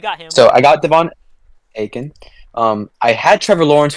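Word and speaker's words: Achane: want his name he he doesn't want his name to be pronounced a chain it's like AE or okay I figur aen or something like that so I got Devon aen um I had Trevor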